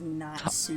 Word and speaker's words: Natsuki: Were you pronouncing it as Natsuki? Oh! Yeah, maybe. No, it's Natsuki. That's the pink-haired chick, yeah? Yes, it's a Japanese name.